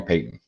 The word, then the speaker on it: Peyton: So you can call me Peyton. Peyton, welcome. Like Peyton Manning, but it's my it's my last name. Yeah, spelled the same way.